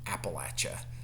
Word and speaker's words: Appalachia: how uh we were taught that it was pronounced. Appalachia. Appalachia.